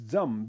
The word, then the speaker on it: Jam: is the seed syllable the seed syllable of of jambala is Jam because initial is J you know initial is J and so so J means J is J okay not not d z okay some people think